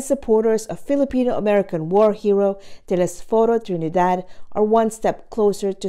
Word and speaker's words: Telesforo Trinidad: serve as the ship sponsors for the USS Telesforo Trinidad. And you're all going to have to learn how to pronounce the name the way I'm pronouncing it, okay?